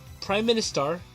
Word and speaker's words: PriministAr: in a sense so this game is called Prime Minister yeah it almost reads like from the star but that's how they pronounce it and it's from hook soft and